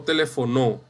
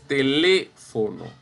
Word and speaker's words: teléfono: Tele, no telefonó, ni teléfono. Es teléfono. Contamos. 1, 2, 3. Ya usted sabe que eso lleva tilde.